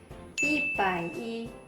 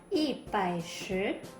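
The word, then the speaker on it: 一百一: I bai i. Ya, teman-teman hati-hati, bukan i bai shi.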